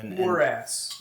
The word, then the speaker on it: morass: Morass. A morass. There was morass. What is that? What's morass? That would mean like a sort of swamp, a fetid swamp. It sounds like the word morose.